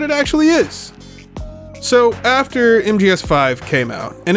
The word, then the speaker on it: MGSV: It's pronounced MGS5, but he wrote MGSV, and so entire leagues